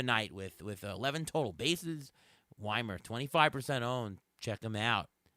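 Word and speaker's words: Wimer: Is it Joey Weimer or Joey Weimer? Like a German name. When I had the game on last night, they said Weimer. It's Weimer. Okay.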